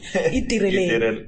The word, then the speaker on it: Itireleng: Itireleng. Exactly. The L and the R, the R and the L next to each other makes it complicated for me.